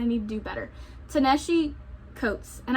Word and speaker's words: Coates: Taneshi Coates. And I keep wanting to call him Codiers, but that's like the Cajun in me making up pronunciation that doesn't exist, and I hate that sometimes that I do that.